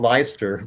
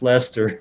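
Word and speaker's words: Leicester: English city that that it looks like it's spelled leister was actually pronounced Lester so but anyway I'm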